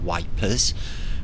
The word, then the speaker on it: Ypres: We call it Ypres or Ypres, and the British soldiers in First World War called it Wipers. We're going to Wipers because they couldn't pronounce the French version.